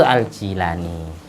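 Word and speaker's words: al-Jilani: Syekh Abdul Qadir aljilani bacanya Yang benar itu itu aljilani kalau ditulis latin itu g g i la l a n y Gilan bahasa Inggrisnya Gilan bacanya Ya Jilan karena Jim itu kalau orang Irak orang Iran Jim itu ditulis G Makanya kalau dibaca Ji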